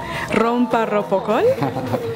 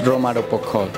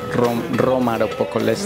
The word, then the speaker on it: Romaropocol: Rompa Ropocol? Loco por amor? I know it's so hard the first time to pronounce it, but it's Roma Ropocol. Roma Ropocol.